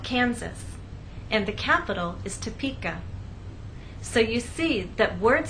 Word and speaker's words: Topeka: So we do not say Topeka, Kansas. The correct pronunciation is Topeka, Kansas.